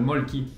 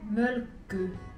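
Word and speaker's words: Mölkky: bouts de bois, et que tout le monde prononce en France le Molki. Bah sachez que c'est un jeu qui vient de Finlande, et Ada va vous apprendre comment officiellement prononcer ce jeu. Ça s'appelle Mölkö.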